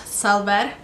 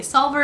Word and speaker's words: Silver: And it's actually in Turkish, or in Kurdish it's pronounced Selver, if you guys wanted to hear the actual way it's pronounced, but most people don't really know how to say it, so I just say Silver.